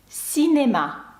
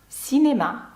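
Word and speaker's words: cinéma: «Сінема», як бачите, це не носовий, бо далі йде голосна. «Сінема», чи таке слово як «ен», бачите, тут саме читається без носового, бо далі йде «е», «ен».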